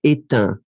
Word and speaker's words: éteint: Final G not pronounced, and then the other one, éteint.